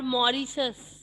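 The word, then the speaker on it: Mauritius: Ma'am गलत, मैट्रिरूस। गलत बोला आपने, सही आंसर है पर वो प्रोनाउंसिएशन गलत कर दिया। नव्या? मैम मैट्रिरूस। गलत। उसको बोलते हैं, इट्स कॉल्ड मॉरिशस।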